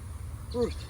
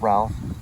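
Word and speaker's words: Routh: Ruth. We're going to say Ruth. R-O-U-T-H. And the mother is Mary Ruth Rowe. This was December 5th of 1841. Some may pronounce Ralph, some may say Ruth. It's R-O-U-T-H.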